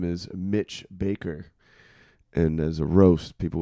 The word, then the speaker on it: Bakker: dad's name is Mitch Baker, And as a roast, people would call him bitch maker. I thought it was Bakker. No, it's Baker. What's with the double K's? It's the Dutch spelling.